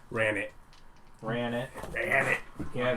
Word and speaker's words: Ranet: your net spelled r-a-n-e-t run it or if i pronounce it in the french way renee yeah we're not doing that ran it ran it damn it